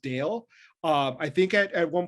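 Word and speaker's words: Dalle: is brody i believe her last name is pronounced dale um i think at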